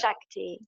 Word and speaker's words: Shakti: Shakti isn't it my saying it right yes Shakti so what what is that so I've never